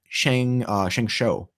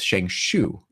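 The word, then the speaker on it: ShengShou: There's a lot of interesting pronunciations though of things like now Sheng Shou is sort of the way to pronounce it. A couple years ago it was Sheng Shu, and like someone like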